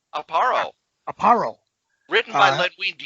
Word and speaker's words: Aparo: Aparo.